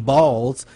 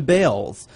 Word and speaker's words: Baals: of jokes after all the family did change the pronunciation of their last name from balls to Bells Jim said it was